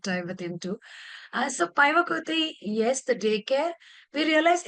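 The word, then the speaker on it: päiväkoti: Shirin, am I pronouncing it right? The daycare, which we Paivakoti. visited. Yeah, Paivakoti, yes.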